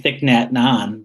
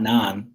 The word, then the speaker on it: Thich Nhat Hanh: I say Thich Nhat Hanh, but it's not Nan. It's an H, and I've always seen that as an N.